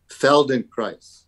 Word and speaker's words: Feldenkrais: Feldenkrais. How do you say it again? Feldenkrais.